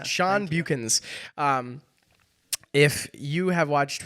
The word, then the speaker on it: Beuckens: Sean how do you say your last name buchens buchins Sean buchens um if you have watched pretty much any